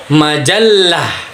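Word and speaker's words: مجلة: Lalu contoh lainnya itu majallah, itu pakai tasydid teman-teman ya. Terjadi penekanan pada huruf la, di mana ia merupakan konsonan dan mendapat penekanan tasydid, yakni konsonan L ganda.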